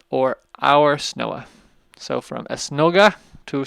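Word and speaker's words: Snoa: es nooga es nooga but in the local pronunciation of Papo the drops out and so it's professionally called the snowa or our snowa so from es snoga to snowa okay here's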